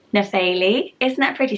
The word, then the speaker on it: Nephele: I found a name called Nepheli. Nephele. Isn't that pretty? So it's the P-H-E, but I think you pronounce it Faye, Nephele, and she was from